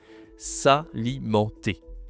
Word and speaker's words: s'alimenter: C'est le verbe s'alimenter avec s apostrophe. Salimenté. OK, tu utilises utilise le en la nasale en s'alimenter.